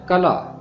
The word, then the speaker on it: قلعہ: اور طاقت دینے والا۔ دوسرا لفظ ہے کلا، اسے بعض لوگ قلعہ پڑھتے ہیں۔ اس کا درست تلفظ کلا ہے۔ خدا میرا مضبوط کلا